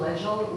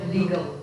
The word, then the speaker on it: legal: your speech about uh we do not pronounce like legal legel we pronounce like legal yeah legal leg legal